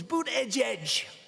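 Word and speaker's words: Buttigieg: I think it was boot Edge Edge boot Edge Edge they said think of it as Boot and then Edge Edge cuz nobody can pronounce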